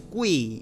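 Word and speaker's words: guì: Ahora, yo sé que tú me dirás, pero profe, hay una I. Sí, pero se pronuncia kue. Obviamente no es un kue así como una E, es kui, ¿ya? Es una mezcla entre E e I.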